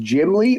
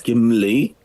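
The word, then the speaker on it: Gimli: of this city correctly is it pronounced jimly or gimly uh think it's gimly gimly yeah that the famous situation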